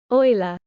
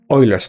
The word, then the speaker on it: Euler: I want to pronounce this correctly. Give me a second. Euler. Euler's number.